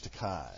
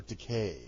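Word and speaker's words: Takei: must invoke the George teai uh or teay because it rhymes with okay you say potato I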